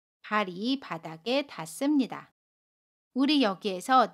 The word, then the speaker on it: 발이: 발의 받침 리을과 모음 이가 만납니다. 그러면 받침 리을이 이응 자리로 가서 발이 라고 발음해요. 연음입니다.